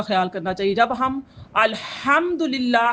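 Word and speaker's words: الحمد لله: तो ये सारा नमाज का नहीं है, अल्हम्दुलिल्लाह नहीं होता, अल्हम्दुलिल्लाह क्या होता है, अलहम, हा को प्रोनाउंस करना होता है, ना के हा को।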